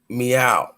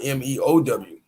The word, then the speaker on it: Mau: in the back chat the Egyptian word for cat m a u is pronounced meow oh Mewtwo huh and Pokemon the cat characters Mew exactly you know what I mean so meow matter of fact no no no the Pokemon character's name is Mia m-e-o-w but this is Mau is still pronounced meow this is literally how